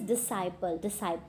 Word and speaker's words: disciple: It's the correct pronunciation is disciple, right?